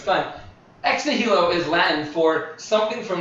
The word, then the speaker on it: nihilo: actually means creation ex nihilo. Anyone? I always pronounce words wrong. What's the word? I think it's Nilo or Nilo. I think it's nihilo. You don't say the H.